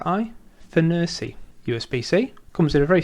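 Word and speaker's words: FNIRSI: to pronounce it it's I believe it's Fury f n i RS I Fury USBC comes in a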